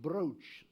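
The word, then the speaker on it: Brocciu: local foods here the most emblematic cheese is pronounced brooch spelled brockie you and that's a bit some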